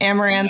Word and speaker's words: Amouranth: Amouranth.